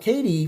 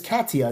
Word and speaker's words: Katia: Thank Katie for the nightmares. It's Katia, I think it's spelled Katia. I think it's Katia.